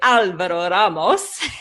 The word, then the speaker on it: Alvaro Ramos: And we were just having a conversation about how to pronounce his name. And most Aussies are troubled by the rolling of the R's, I think, whereas that's pretty easy for a French-speaking Canadian like me. In any case, Al is